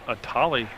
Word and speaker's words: Atali: I've been saying it wrong all night. It's pronounced Atali.